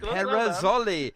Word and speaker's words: Rizzoli: and pronounce it now how do we pronounce your surnames Rizzoli Rizzoli and you have to do this Italian accent is that right try